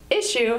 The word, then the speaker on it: issue: would need space issue issue has two syllables issue with the emphasis on the first syllable issue issue issue as